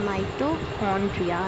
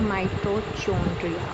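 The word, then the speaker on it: mitochondria: Next organelle है माइटोकॉन्ड्रिया, ठीक है, it pronounce as माइटोकॉन्ड्रिया नॉट माइटोचोंड्रिया।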